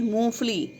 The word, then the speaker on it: मूंगफली: अब कुछ बच्चे क्या करते हैं, मूंगफली का उच्चारण करते हैं मूंगफली, और लिख भी ऐसे ही देते हैं, वो ग डालते ही नहीं, ग लिखते ही नहीं। बच्चों, इस चीज़ का ध्यान रखना है, सभी शब्दों का उच्चारण सही तरीके से करना है। सही उच्चारण क्या है, मूंगफली, ठीक है।